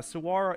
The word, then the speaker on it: Saguaro: for the same reason Saguaro CA it so break curse yeah Saro and that is how you say it Saro um no I